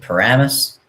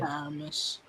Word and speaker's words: Paramus: Paramis. I say it right. Paramus.